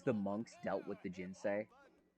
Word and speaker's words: ginseng: monks dealt with the ginsei i'm going to keep saying ginseng because i think that that's the right pronunciation of it is this this is